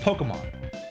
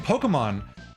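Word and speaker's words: Pokémon: So when they were introducing Pokemon, they wanted people to pronounce it Pokemon. Pokemon. Pokemon. Right. And so the stress was there to tell you, hey, it's not Pokemon.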